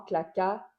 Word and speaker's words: claqua: Si j'ajoute seulement les accents, et le vent claqua sur la porte, et le vent claqua, claqua, la dernière syllabe du mot, et le vent claqua sur la porte.